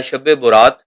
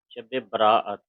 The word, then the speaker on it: شب براعت: شب براعت یہ صحیح تلفظ ہے، براعت یہ عام صحیح طور پر تلفظ شب نہیں۔ برات کہا جاتا ہے۔ برات کہا جاتا ہے لیکن صحیح تلفظ شب براعت ہے۔ اس کا کیا مطلب ہے؟